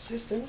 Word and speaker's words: cystine: Cystine? Cystine, yes. That is one of the hereditary stones, but they are very rare. How do you pronounce it? Cystine? Cystine, yes, with a Okay. C-Y-S-T-I-N-E.